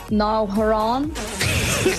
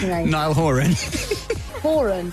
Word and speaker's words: Niall Horan: it even happened but you got his name wrong i just want to play that audio right now collaboration with nile haran okay i don't know how do you say niall horan is that it yeah well i've been saying it was a french accent this whole time okay so how did